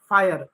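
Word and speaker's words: fire: फायर। इ जो होगा वह साइलेंट होगा। जब भी किसी भी अंग्रेजी के शब्द में इ लास्ट में आता है तो इ साइलेंट होता है।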